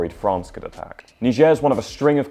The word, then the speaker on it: Niger: It’s why we pronounce Niger The French way while Nigeria, a former British colony, is pronounced the English way.